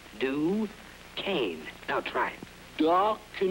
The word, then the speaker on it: Duquesne: i'll have a duquesne pardon me sir it's pronounced duquesne do cane now try it dark